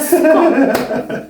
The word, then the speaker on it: ska: Not viska. Oh my god. Jag ska. Like you skull.